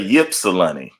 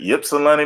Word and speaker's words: Ypsilanti: If one of those words is silent, but I'm gonna say Ypsilanti. Is that it? Ypsilanti, Michigan.